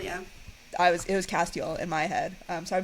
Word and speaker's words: Castiel: Although I will say that I only learned how to pronounce Castiel. So Castiel, yeah. It was Castiel in my head.